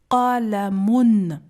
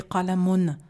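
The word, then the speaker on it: قلم: Je prononce « qalamun ».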